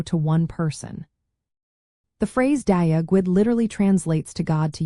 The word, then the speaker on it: Dia Dhuit: Well, the proper way to say Dia Dhuit, which means hello in Irish Gaelic, is pronounced Dia Dhuit.